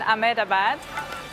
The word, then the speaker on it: Ahmedabad: Sardar Vallabhbhai Patel International Airport in Ahmedabad.